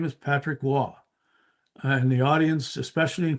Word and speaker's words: Roy: he you know famously uh never called Patrick Wah by his real name. It was uh Patty Roy. And we had we clashed about that. I said, "Don, his name is Patrick Wah."